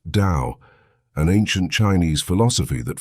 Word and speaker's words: Tao: will be diving into is called the taao pronounced Dao an ancient Chinese philosophy that focuses on living